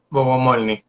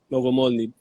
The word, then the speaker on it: Bogomolni: O sea, así se pronuncia tu apellido, ¿cierto? Bogomolny. Bogomolny.